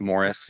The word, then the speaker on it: Maurice: Morris. This is Morris, uh, authorized representative for High Haven LLC. Um, I totally get it. My name is spelled Maurice, but it's actually pronounced Morris.